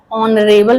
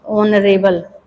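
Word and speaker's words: honorable: है इसलिए ए लगेगा, ऑनरेबल में देखिए ओ का मतलब वावेल का उच्चारण हो रहा है इसलिए देखिए ऑनरेबल, ऑनरेबल ऐसे पढ़ेंगे तो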